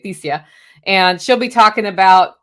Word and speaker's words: Thesia: Thesia, I believe is how you say it, Thesia.